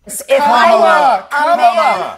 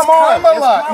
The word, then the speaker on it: Kamala: themselves on giving conservatives a hard time for mispronouncing Kamala Harris's first name. Kamala! You said this. We don't call you Nancy. It's Kamala.